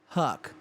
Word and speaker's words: Huc: enzyme in question is called hook pronounced Huck it's made by bacteria